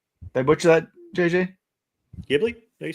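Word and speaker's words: Ghibli: Gibli. You said it right. Okay. Some people say Jibli. I don't know. I always pronounce it Gibli.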